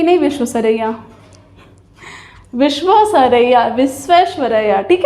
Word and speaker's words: विश्वेश्वरैया: आप बोल लेते हैं कि नहीं, विश्वेश्वरैया, विश्वेश्वरैया। ठीक है, तो ये नाम बहुत अच्छे से याद रखिए, सही से प्रोनाउंस करिए इसको।